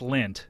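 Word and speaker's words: Lindt: uh lint is am I pronouncing that correct yeah good job Scott is it he knows your name yeah that's my name is it l i n DT that's right yeah just like the chocolats right the what like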